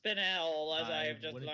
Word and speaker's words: Spinel: You have the spinal up here around the bend. Yeah. Apparently it's pronounced spinel, as I have just wouldn't learned.